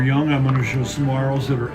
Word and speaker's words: saguaro: pronounced Saguaro. Saguaro. The G-U-A in Spanish is wa, so that we have the Spanish influence in our words, and they start from these seeds.